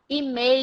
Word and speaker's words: email: words so that's it email has the two the two points to remember the stress and the elephant so it's not email